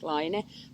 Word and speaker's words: Laine: because it's all also it's not just a French word for wall so it's also a Finnish word meaning a tiny wave in the ocean and we pronounce it liner but as we always